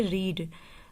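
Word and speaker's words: read: पढ़ना की स्पेलिंग होती है रीड। रीड फर्स्ट फॉर्म है, रेड सेकंड फॉर्म है, और फिर रेड थर्ड फॉर्म है।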